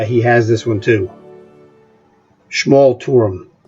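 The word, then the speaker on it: Schmalturm: Schmal Turum is how you pronounce that.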